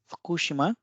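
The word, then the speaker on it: 福島: तो पिछला था फकुशिमा, फकुशिमा, फकुशिमा।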